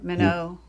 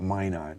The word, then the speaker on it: Minot: but that was really it's minot yeah mono mono north dakota that's the french pronunciation i mean we americans call it mine on here i see okay i'm